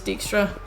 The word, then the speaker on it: Dijkstra: The way they pronounce it in the game is Dijkstra.